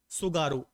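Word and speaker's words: Tsugaru: सुगारू, ऐसे लिखते हैं, है ना, टी साइलेंट है, हिंदी में आप डायरेक्ट सुगारू लिख सकते हैं।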